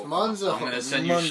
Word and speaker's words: Monzo: You can't even pronounce it right. Moonzo! It's Monzo.